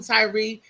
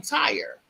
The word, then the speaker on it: Tyree: just reading things off not knowing that Tyree name is supposed to have an accent on it because my son his name is Tyree and we call him Tyree and it's spelled t-y-r-e the same way as that young man is correct but a lot of people call him Tire because the way it looks in the way so